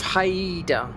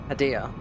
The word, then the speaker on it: Hadea: The Ages of Haida. Why am I pronouncing it like Spanish when it's Hadea?